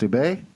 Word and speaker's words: Dubay: I believe that's how it's pronounced, Dubay? That's correct.